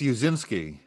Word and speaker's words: Uscinski: So how do you, can you help us out with the pronunciation? It's Uscinski. Uscinski.